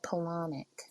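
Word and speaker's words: Palahniuk: Panic he's awesome Chuck Panic perf oh yeah Panic sounds like like you know colonic but it's spelled really weird p a h l UI k something like that a right conspiracies why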